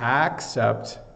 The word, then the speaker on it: except: difference that's what let me say it again except I'm really making it obvious now and except